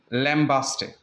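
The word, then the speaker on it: lambaste: लैम्बेस्ट बि पढ़िबो आहे इनखे. इहो बग़ैर ई जे बि वर्ड अथव, इहो ई सां गॾु बि आहे. ॿ स्पेलिंग्स आहिनि. सो हीउ जेको आहे कॉमनली तव्हां इंटरनेट वग़ैरह ते ॾिसो त लैम्बेस्ट, राइट, या लैम्बास्ट. सो ॿई साउंड्स बि इन जा आहिनि.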